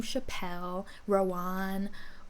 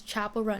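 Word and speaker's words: Chappell Roan: something and she's like, "Some people have been pronouncing my name Chappelle Rowan." Um, but I'm saying it now. My name is Chapel Run.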